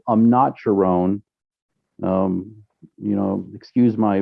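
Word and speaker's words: Amnat Charoen: They call it Isan, and actually, the province where my mom comes from is called Amnacharon. Um, excuse my pronunciation, but I think it's Amnacharon.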